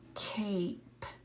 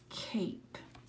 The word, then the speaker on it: cape: And remember, silent E needs to go at the end. Silent E makes the A say A, that long vowel sound. Listen, cape, cape.